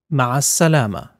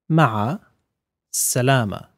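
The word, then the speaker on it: مع السلامة: one that will work in most situations is maʿa ssalāmah. Listen again to how Murad pronounces this, and he'll say it slowly. Maʿa ssalāmah.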